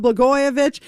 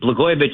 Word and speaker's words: Blagojevich: Before I do that, let me just explain that John Catsimatidis, Blagojevich isn't hard to say. It rhymes with Catsimatidis.